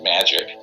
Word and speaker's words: MHAIC: the majority intelligence committee mhaic is pronounced magic ironically or not ironically and that is a